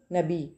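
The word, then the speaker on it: knob: silent है next है नोब के एन ओ बी नोब यहां पे के साइलेंट है नोब ठीक है नोब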